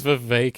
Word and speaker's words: Vivek: My name's Vivek. It rhymes with cake. It also rhymes with fake, because that's the way he sounds.